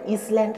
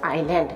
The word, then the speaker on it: island: এবং আইল্যান্ড, আইল্যান্ড এটা কিন্তু ইসল্যান্ড নয়, অনেক স্টুডেন্টরা এটাকে ইসল্যান্ড, আই এস যেহেতু ইস আছে সেই জন্য ইসল্যান্ড বলে. এটা কিন্তু অ্যাকচুয়াল প্রোনাউন্সিয়েশন হবে আইল্যান্ড, এস সাইলেন্ট.